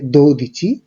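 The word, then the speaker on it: dodici: 12-এর ক্ষেত্রে উচ্চারণ হচ্ছে দো দিচি, 3-এর ক্ষেত্রে বা 13-র ক্ষেত্রে ত্রে দিচি, 14-র ক্ষেত্রে কোয়াত্তোর দিচি, 15-র ক্ষেত্রে কুইন দিচি এবং 16-র ক্ষেত্রে সেই দিচি।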